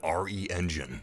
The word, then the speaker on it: RE Engine: what they've done with re engine or is pronounced re-engine it's incredible the graphics